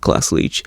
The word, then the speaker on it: Glasslite: a variety of things if you look up glass leach it's spelled GLA SS li te so it looks like glass light if you look them